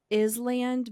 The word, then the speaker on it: Island: okay so first off why is it spelled like Island but we don't pronounce the S that's my first question